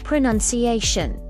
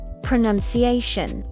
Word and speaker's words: pronunciation: And of course, the word for what we're doing now, pronunciation. Pronunciation.